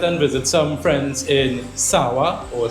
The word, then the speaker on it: San Juan: Today I went and visited some friends in Sawa or San Juan, as you properly pronounce it.